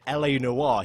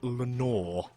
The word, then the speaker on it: Le Noir: it and was insisted instead of calling le noir he kept pronouncing it Lenore Lenore that's my favorite